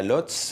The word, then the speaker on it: Łódź: Alors, on n'est pas à Varsovie, on est à Lodz, que vous prononcez en polonais. Łódź.